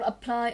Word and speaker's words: apply: Chợ đọc là apply, âm đầu tiên của cô là ơ, không rơi vào ơ, nó rơi vào apply, âm tiết thứ hai.